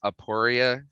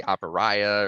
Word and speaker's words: Aporia: but i it's called it's pronounced aporia customs and um you know i've had people say apariah or like um aporio and i'm like if there's not even an o at the end of my at the end of the name and it's always interesting